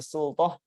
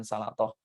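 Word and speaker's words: سلطة: mengisi wa yasubbu 'ala sultah. Ini bacanya sultah ya, bukan salatoh. Beda antara salatoh dengan sultah.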